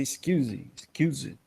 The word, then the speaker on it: SCSI: Bom, interface SCSI, a gente pronuncia SCSI, né?